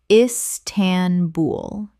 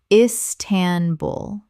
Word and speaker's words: Istanbul: Istanbul. Correct pronunciation. Istanbul. Three syllables with the stress on the final syllable.